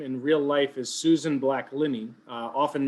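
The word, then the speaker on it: Susan Backlinie: Her name in real life is Susan Black-Linney, often mispronounced Susan Blackline.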